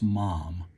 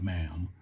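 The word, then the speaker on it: MAM: and I've been told it's pronounced mom not ma'am so Mom knives they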